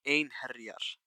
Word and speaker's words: Einherjar: I'm not sure how closely the Old Norse and the Icelandic pronunciation of this word is, but at least in Icelandic it's Einherjar.